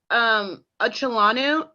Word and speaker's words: Acholonu: No, I know how to pronounce. How about your last name? My last name, it's Acholonu, ACHOLONU.